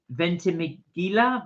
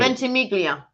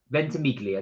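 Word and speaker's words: Ventimiglia: Does the train from me go to is it uh Ventigila?" Ventig I can't pronounce that. I think it did. Ventimelia. Ventimelia. There we are.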